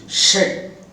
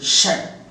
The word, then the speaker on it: should: எச் ஓ எல் டி இந்த வார்த்தைக்கு இரண்டு உச்சரிப்புகள் இருக்கின்றன ஒன்று ஷட் மற்றொன்று ஷட் இந்த ஷட் என்பது வீக் ஃபார்ம் அப்படின்னா என்ன அர்த்தம் பலம் குறைந்த உச்சரிப்பு ஷட் என்பது ஸ்ட்ராங் ஃபார்ம் அதாவது பலமான உச்சரிப்பு இது பலம் குறைந்த உச்சரிப்பு இது பலமான உச்சரிப்பு இப்போ இங்க பாருங்க முதல்ல